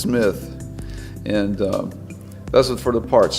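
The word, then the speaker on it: CMITH: It's C-M-I-T-H, pronounced Smith, not C. Smith or Smith. It's just Smith.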